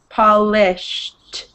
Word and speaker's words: polished: good um and then the e d at the end of that polished it sounds like a t listen when i say it polished perfect very good punished polished like vanished it's the same sound at the end that s-h-e-d it sounds like it sounds like s-h-t it's you're almost swearing